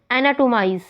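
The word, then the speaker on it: anatomize: एनाटोमाइज, अब इसमें भी ऑन the third syllable from the last.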